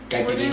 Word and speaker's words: caipirinha: Caipirinha.